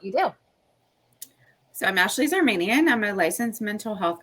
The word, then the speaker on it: Zarmanian: girls girl friend of mine and colleague Ashley Z armanian hi did I say it correctly your last